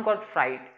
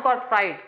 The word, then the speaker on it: Gottfried: आगे देखो, एक यहाँ पे फिलोसोफर्स थे, जर्मन फिलोसोफर, जिनका नाम था जॉन गॉटफ्राइड। बोलते हैं जॉन, स्पेलिंग है जोहान, स्पेलिंग याद रखना जोहान, JOHANN, जॉन गॉटफ्राइड।